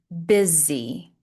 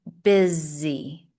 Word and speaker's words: busy: A good example of this is busy. Even though it has an S, because the S is next to a vowel, sometimes it will be pronounced as a Z. Busy. I am busy.